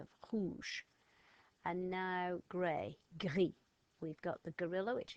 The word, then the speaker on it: gris: In rouge, in gris, in vert. And one last sound, E. E. We've got E in gris.